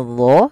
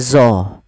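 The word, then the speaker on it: ظ: Nah, hati-hati dalam pelafalan dho, jangan dibaca dengan zo. Jangan dibaca dengan zo. Karena dia bukan zo. Kalau zo nanti makhrajnya salah.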